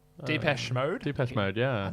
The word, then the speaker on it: Depeche: Someone mode Deepak? Depeche Mode. Depeche Mode, yeah. I'm not sure that's how you pronounce it.